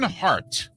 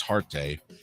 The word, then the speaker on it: Huarte: John Hart. I think it's how you pronounce it, even though it's spelled Huarte, one of the Notre Dame quarterbacks who won the Heisman. Maybe it's Harte.